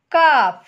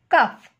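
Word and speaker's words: calf: বেশ, এবার elephant, এলিফ্যান্টের baby কি হবে, কাফ। উচ্চারণ করার সময় কিন্তু খেয়াল রাখবে এলটা কিন্তু সাইলেন্ট, এল এর উচ্চারণ হবে না, সি এ এল এফ, কাফ।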